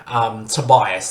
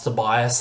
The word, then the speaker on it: Tobiahs: Tobias is his name. It's spelled Tobiahs.